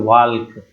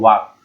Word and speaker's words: walk: वाल्क। ऐसा नहीं है, वाल्क नहीं पढ़ते, इसको क्या पढ़ते हैं वो दोस्तों? वाक। क्या पढ़ते हैं? वाक। इसको जो इसमें एल होता है इसको साइलेंट कर देते हैं। समझिए कि इसमें एल होता ही नहीं, क्या होता है? वाक। इसको पढ़ते हैं वाक, WALK लिखा जाता है, WALK, लेकिन पढ़ा जाता है वाक।